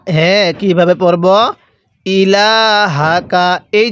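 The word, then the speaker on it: إِلَٰهَكَ: যদি আপনি আইনটাকে চাপ দিয়ে না পড়েন তাহলে অনেক সময় আইনটা হামজা উচ্চারণ হয়ে যাবে। তাহলে কিভাবে পড়ব? ক্বালু না'বুদু। এরপরে ইলাহাকা, হ্যাঁ কিভাবে পড়ব? ইলাহাকা।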